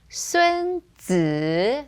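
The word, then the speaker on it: 孙子: Now, not to confuse it with the person from the Art of War, because his name was 孙子, third tone.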